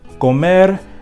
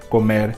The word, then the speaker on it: comer: Another rule to remember is that if a word ends with an L or an R, the stress will always be on the last syllable, no matter what, and there will be no accent.